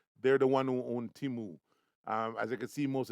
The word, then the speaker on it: Temu: It's pronounced Temu.